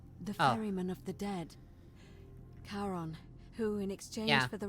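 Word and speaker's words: Charon: it's just as you described it only your pronunciation is a little off the name you heard wasn't karen it was c-h-a-r-o-n sharon caron the ferryman of the dead karon who in exchange for the right coin helps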